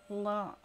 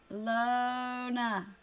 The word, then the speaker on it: Lona: I'm just gonna think long. Alone.